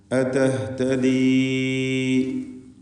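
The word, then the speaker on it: أَتَهْتَدِي: അതഹ്തദി അം തകൂനു അതഹ്തദി ഇതിലുള്ള യാഇൻ്റെ ദീർഘം മദ് മുൻഫസിൽ ജായിസ് എന്നതാണ്. 4-5 ഹറക്കത്തിൻ്റെ അളവിൽ അവിടെ യാഇനെ ദീർഘിപ്പിക്കൽ വേണ്ടതാണ്.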